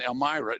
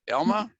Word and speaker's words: Elma: But Doug and Elmyra, am I saying it right? Am I saying your name right? Elma. Elma. Right. Elma.